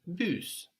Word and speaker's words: bus: For example, the bus is le bus, the bus. Le bus, So that's spelled just like in English, B-U-S, but we pronounce that S on the end. le bus.